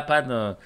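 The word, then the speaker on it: パン: la panne la panne ça se dit la panne parce que tu prononces le n en japonais donc la panne voilà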